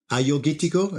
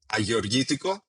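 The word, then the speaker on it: Agiorgitiko: Ayurgitiko, if you learn to pronounce it first, I probably pronounced it incorrectly. How do you pronounce it in Greek? Agorgitiko, That wasn't too it's, bad.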